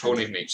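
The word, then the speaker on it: Pollnivneach: I actually have no idea how you pronounce that. Polnivich? Polnivich, that's the one.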